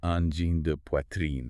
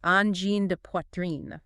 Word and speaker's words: Angine de Poitrine: And then, uh, de. Just a short, like, duh sound. Duh. And finally, poitrine. So you say pwah, rhyming with spa but with a red sound, and then trine at the end. Poitrine.